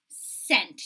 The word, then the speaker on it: cent: So a penny is worth 1 cent. Do you guys remember that cent symbol, right? C, it's a soft C for cent, and we got a line down the middle.